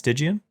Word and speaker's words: Stygian: came out with a whole whack load of Stygian I swear English is my second language so how you say it's Didion yep yeah okay a whole bunch of them